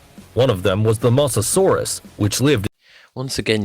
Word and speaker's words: Mosasaurus: of them was the mosasaurus which lived once again you have completely butchered the pronunciation you've just called it mososaurus which is an early